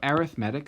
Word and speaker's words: arithmetic: So arithmetic sequences, this is not pronounced arithmetic, it's pronounced arithmetic, different from the word arithmetic.